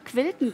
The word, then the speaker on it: quilten: Es ist, also es heißt nicht killen, sondern quilt und das tun wir heute.